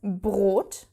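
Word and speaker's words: Brot: to pronounce it Ro also after another consonant let's take the word bread which is br br R this in this combination you have to pronounce the R so BR okay so it's not like the photo color red is red it's not r no you have to use the German R the gutural r in the back of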